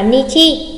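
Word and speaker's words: 日: Nhắc lại, đôi đếm ngày trong tiếng Nhật là chữ Hán như thế, chủ yếu đọc là Nichi.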